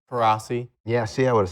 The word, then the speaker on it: Coraci: Coraci. Yeah, see, I would have said that Mhm. wrong. I would have gone with the Coraci, but it's Coraci.